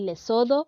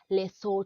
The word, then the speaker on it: Lesotho: a lot of people say Lesotho but actually it is less so talk less or talk so I hope that you